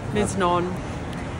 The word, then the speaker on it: Miznon: lunch at mnon or misnan then went in studio Nicholson how do you know it's pronounced like that Mi Z would be Miz Miz non and now we are